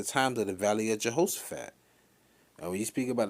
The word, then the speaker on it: Jehoshaphat: but um when you went to the word jehoshaphat it's properly pronounced in the lashes the hebrew ya how would shape yeah how was the heavenly father's name shap